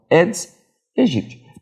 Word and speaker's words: Aedes aegypti: Lembrando que do latim, sempre que você tem um AE, você não pronuncia o A, você não pronuncia apenas o E. Então, é o Aedes aegypti.